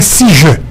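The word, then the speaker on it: seizure: cause parfois qui anglais si je ok il écrit s e i z u r e Mais prononcer si je à qui ça lié qui vouit parler français il dit crise d'épilepsie.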